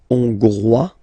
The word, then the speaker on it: Hongrois: Hongrois, Grois, Hongroise. Okay, so here, final S not pronounced for the masculine form, and then you pronounce it here for the feminine form.